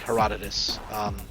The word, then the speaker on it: Herodotus: But it basically, if you pronounce it correctly, it was like Herodotus.